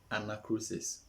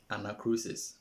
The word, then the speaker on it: anacrusis: i would like to treat what we call anachrosis anachrosis anachrosis is spelt a n a c r u s i s anachrosis sometimes in an attempt to find the time